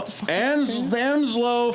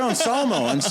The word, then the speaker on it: Anselmo: Phil Anslow from Pantera. Yeah. Phil Anselmo. I said his last name wrong.